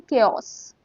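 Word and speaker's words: chaos: इसको हम बोलते हैं केओस। केओस इसमें जिस तरीके से ए और ओ अरेंज्ड है इसे देख के आप पजल ना यू से केओस केस दिस वर्ड इसमें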